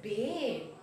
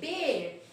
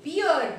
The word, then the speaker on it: bear: Okay, this is bear. Bhalu, bear. You saw the picture. A. Okay, the sound A, bear. Okay, many of us, you may find, pronounced wrongly. Beer, beer.